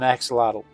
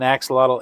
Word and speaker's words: axolotl: If you've if you've never tried to pronounce it, this animal's name is Maria. Maria. No, this is an axelottle. This is an axelottle.